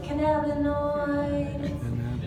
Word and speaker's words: cannabinoid: And can anybody say cannabinoid? Don't be annoyed, it's a cannabinoid.